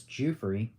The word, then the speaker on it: Giuffre: A lot of people don't know how to pronounce her last name. It's not Giuffre, it's Giuffre.